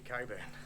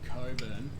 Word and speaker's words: Cockburn: Boy, that's like saying that Cockburn is supposed to be Coburn.